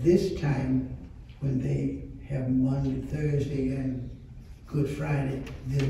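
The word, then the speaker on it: Maundy: And it's called Monday Thursday. And add it to the words I gave you, and it's spelled M-A-U-N-D-Y.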